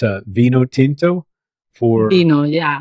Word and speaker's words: vino: English friends it's uh Vino Tinto for you know yeah the v in Spanish is pronounced as a b so and vino blanco